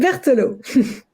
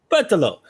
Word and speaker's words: Berthelot: Berthelot. I'm trying. Correct me. How do you pronounce it? Berthelot. Berthelot.